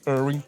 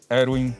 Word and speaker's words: Erwin: E é assim que eles pronunciam. Uhum. Então foi assim que ficou, por isso essa decisão pelo Irwin e não Erwin e não Irving.